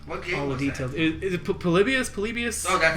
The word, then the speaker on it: Polybius: Is it Polybius? Oh, that's how it's pronounced.